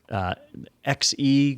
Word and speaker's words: Xe: Intel has been focusing on their XE graphics, which I think is pronounced she, but that graphics platform, and it takes them a while to do it.